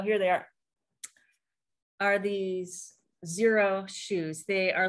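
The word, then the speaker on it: Xero: they are are these zero shoes they are like thinner lighter weight versions of tebas and the brand is x-e-r-o it's pronounced zero and they're really good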